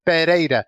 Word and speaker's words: Pereira: by the way yeah if there were two r's put together then it would be pajeda if there's just one R it's perida like you said but uh anyways uh